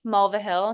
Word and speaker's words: Mulvihill: Okay, so period, Mulvihill. It's a little tricky, but it's spelled like it sounds.